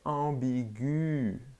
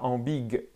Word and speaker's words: ambiguë: antérieures dans une parole ambiguë ah ok ambiguë et pas en big il y a des